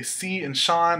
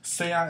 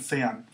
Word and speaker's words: sean: youris command Sean um a lot of students will say C and Shan if that helps you then great but just remember that's not how you say it Sean and Sean next verb is command